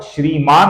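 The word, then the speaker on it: श्रीमान्: यहां पर श्रीमान है, न का हमें अपूर्ण उच्चारण करना है।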